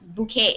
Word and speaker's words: bouquet: are a bouquet okay a bouquet without the S bouquet yeah bouquet you don't say the T even if you put an S at the end you just say bouquet but you never you don't pronounce it you don't say